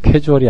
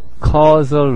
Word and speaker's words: causal: 캐주얼이라고 읽을 줄 알았어요. 캐주얼이 아니에요. 잘 읽어보세요. 캐주얼이 아닙니다. 진짜 나 이거 어떡하나 진짜. 캐주얼 relations가 아니라 causal relations입니다.